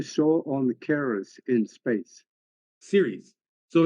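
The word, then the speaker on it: Ceres: on Caris in space Series so it's c r s is pronounced series like television series oh okay so that's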